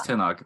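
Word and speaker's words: Tenoch: I've been saying Tina quarter his name is tenak which is cool because that's name is actually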